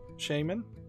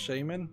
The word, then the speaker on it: shaman: going to do the shaman which is pronounced Shaman not Shaman I looked it up so let's look